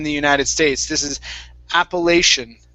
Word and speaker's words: Appalachian: important mountains in the united states this is appalachian appalachian mountains appalachian mountains good nice job okay let's